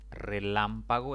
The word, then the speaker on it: Relámpago: Relámpago es una palabra de 4 sílabas. Contando de izquierda a derecha, la mayor intensidad recae en la antepenúltima sílaba. Por lo tanto, se le debe colocar tilde.